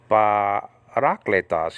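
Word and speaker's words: παράκλητος: Parakletos, you see the acute marker over the second syllable there? That's where the emphasis should be on, okay? Not you know, above the eta, the emphasis should, you know, the emphasis shouldn't be on clay.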